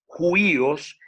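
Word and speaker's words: υἱός: Si usted va a este número, te va a decir exactamente, esta es la manera como se pronuncia esa palabra, es juíos y significa hijo, usado muy ampliamente de parentesco, remoto, figuradamente.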